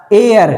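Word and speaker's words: air: ए देख तो र साउंड नहीं करते हैं।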